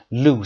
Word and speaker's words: loose: دقت داشته باشید تلفظ رو loose صدای سه داشته باشیم. double o هم هست.